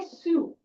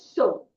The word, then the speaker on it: sew: We never say sue. SW is so. Okay. Saga. So it is so. Okay. Uh the pronunciation here is so.